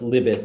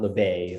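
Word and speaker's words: Libet: libbett uh l-i-b-e-t but i'm i'm told it's pronounced libit not le bay although i i was uh i would think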